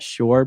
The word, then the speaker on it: Shore: Shore, pronounced shore, like down by the shore.